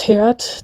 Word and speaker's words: h_rd: I pronounce her name as Heard, despite it being written H_RD, and the underscore being in her language pronounced as an E with a click sound at the same time, a bit like in, for example, the Xhosa language. And I tried to pronounce it right, but my Western or European tongue just doesn't manage.